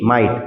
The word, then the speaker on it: might: आज हम लोग सीखने वाले हैं माइट, MIGHT माइट। इसमें GH साइलेंट रहेगा।